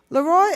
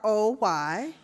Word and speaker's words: Leroy: Okay, now in defense, I'm from Kentucky, which is the South, and when you have Leroy, that's pronounced Leroy. So I called him Leroy.